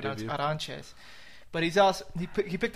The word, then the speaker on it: Arantes: He's 5-1 with a loss to Felipe Arantes. Mhm. Pronounced Aranches, but he's al he picked up a split decision over Rodrigo Dam.